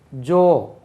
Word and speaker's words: jaw: JAW ஏற்கனவே தெரிஞ்சாலும் ஜான்னு நம்ம உச்சரிப்போம் தெரியாமல். தாடை. ஜோ எப்படி உச்சரிங்க? ஜோ ஜோ. அப்போ நம்ம ஜானே படிச்சிருக்கோம். அது ஜோ. JAW ஜோ.